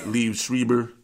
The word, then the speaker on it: Liev Schreiber: a what she okay shout shout out to Liev Schreiber that's how you pronounce his name he played yeah Liev Schreiber he Shriver Schreiber Schreiber yeah yeah I don't